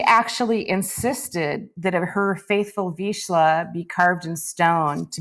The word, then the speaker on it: Vizsla: And a lot of people don't know how to pronounce it, so we're just going to cover that right now and say please. Yeah, Vizsla. Vizsla.